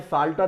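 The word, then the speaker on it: psalter: है इसी तरह से सॉल्टर एक वर्ड हमने लिया है भजन या ग्रंथ उसका अर्थ है और यहां पर पी लेटर जो है वो साइलेंट होता है इसके बाद जूडो नकली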